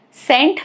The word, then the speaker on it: scent: For example, the word scent, scent, C is not pronounced.